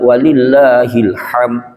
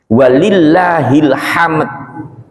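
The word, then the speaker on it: walillahilhamd: Walillahil hamd. Ya, karena di situ diwakafkan dalnya met gitu bunyinya. Itu kalau jenengan bacanya walillahil ham berarti Allah punya paman.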